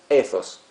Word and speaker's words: ethos: Bueno, yo digo ethos así con esa Z, porque es una palabra griega, y bueno, tuve la suerte de poder hacer estudios de griego, es un idioma que me encanta, Si quieren le dicen ethos y no hay problema.